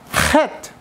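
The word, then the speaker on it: חטא: However, het, when you sung that word het, the only letter there is silent is the aleph. The het and the tet is pronounced.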